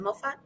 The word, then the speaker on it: Moffat: everybody, is is it Moffat? Please pronounce. Yep, you got it right. Moffat.